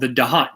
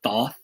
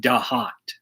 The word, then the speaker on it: Thoth: usually call it the thoth deck it's spelled t-h-o-t-h but in egyptian that is pronounced da hot like d-a-h-o-t well in the temple